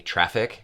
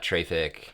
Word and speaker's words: Traefik: It's easiest to just say traffic, which is fine. But it's like in the word aesthetics. It's not Traefik, it's not Traefik, it's Traefik.